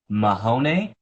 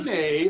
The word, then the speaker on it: Mahoney: It's Mahone or Mahoney. Mahoney, I like that. Like a Mahoney, basically like Mahoney bologna.